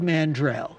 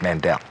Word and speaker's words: Mandel: Please welcome America's next-door neighbor, Howard Mandrell. Are your sisters still singing country music? It's Mandel. Barbara Mandel. I've been saying it wrong all those years. I'm Mandel. She's Mandrell.